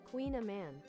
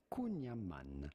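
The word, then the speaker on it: kouign-amann: We would pronounce it kunyaman. Kunyaman. Kunyaman. Kunyaman. But it'd be fine in English or American to say kunyaman.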